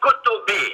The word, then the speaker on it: Kotbi: Et d'ailleurs, quand on dit Mehdi Kotbi, il faut prononcer Mehdi Kotoubi.